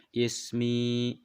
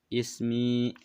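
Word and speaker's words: اسمي: membacanya is me ya Ismi itu kan dalam Hukum tajwid apa hukum madiyah Ya Sukun sebelumnya harkat kasrah ini adalah Mad Thobi'i dibacanya dua sukun Ismi Ismi nah seperti itu enak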